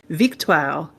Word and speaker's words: Victoire: So you will probably hear them when watching on TSN and stuff like that be pronounced Victoire, because that's how it's pronounced en français.